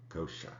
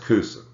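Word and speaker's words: Coosa: Kosha is the late medieval Castilian way of writing Kosha. Okay, it's not pronounced Kusa.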